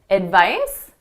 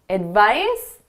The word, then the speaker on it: advice: So notice that C is being pronounced as an S.